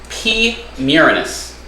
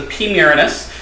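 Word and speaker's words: Pterinochilus murinus: we go foreign OBT P muranus um pterodokylus miranus something like that it actually the p is silent so it's kind of funny that it's the P miriness but it's the P muranus the orange bitey thing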